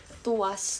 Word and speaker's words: TWS: Dia ada grup tulisannya TWS bacanya tuas. Aku tuh kayaknya emang enggak boleh deh bilang aku tuh enggak suka sama grup brondong. Bukan twice, tapi tu usas gitu bacanya. Aku tuh kayaknya emang enggak